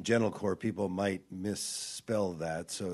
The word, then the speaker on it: Gentilcore: uh I'd love to have you so the pronunciation gentle core people might misspell that so it's g n